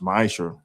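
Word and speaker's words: מעשר: You can find this in numbers 18 and 21 in Malachi 38-10 means 10th in Hebrew and is pronounced misher.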